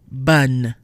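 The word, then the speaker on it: bonne: Bun. Not bon, not nasal, but bun.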